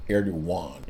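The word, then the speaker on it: Erdoğan: And the president of Turkey who is uh based except Aragon or Erdogan. It's a G, but it's kind of pronounced it's Erdogan.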